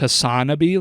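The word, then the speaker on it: HasanAbi: a channel Hassan I I think it's pronounced hassanabi like wannabe okay I don't know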